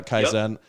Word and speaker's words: kaizen: that's mostly through is is it keyson do i pronounce that correctly or kaizen i did yeah kaizen uh mostly through that